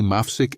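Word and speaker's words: מפסיק: The phrase is, Ani Mafsik et Hashalshelet, lo od.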